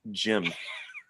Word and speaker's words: Jim: Or Jim. Pronounced Jim. The J is Jim.